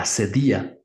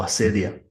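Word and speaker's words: acedia: La avaricia tiene tres hijas: la ira, la tristeza y la asedía o asedia que se escribe a c e d i a.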